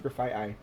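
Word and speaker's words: Grafaiai: oh we did learn that graphite ey is pronounced graphite ey um because I looked it up on bued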